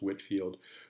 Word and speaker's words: George Whitefield: a historical figure George Whitefield often sometimes pronounced Whitfield who was a religious